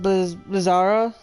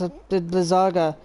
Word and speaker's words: Blizzaga: You know, remember I pronounced it Blizzara? Blizzara something else. It's Blizzaga.